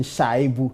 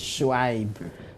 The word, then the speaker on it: Shuaib: I see my colleagues mention Shaibu. I'm sure Sheikh will teach us that the proper pronunciation is Shuaib.